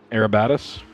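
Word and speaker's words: Arabatzis: You know how to say his last name? Arabatis? Arabatis. Uh that is That is correct. I've heard I I've heard that before. I'm just ignoring the Z.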